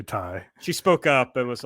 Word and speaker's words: Tay: happened is you know someone who didn't know how to pronounce her name uh went with tayjay and uh now that she's signed i think she's the head by the way uh it is actually ty she spoke up and